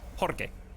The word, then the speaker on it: Jorge: You mean Jorge. Jorge. Jorge. Jorge. I can't pronounce it, you're right. I fixed it on the 3rd try.